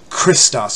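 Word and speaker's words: Χριστός: it's not a chew the correct pronunciation is in like the word lock l o CH it's a it's a heart that's where we get the word Christos from like Chris the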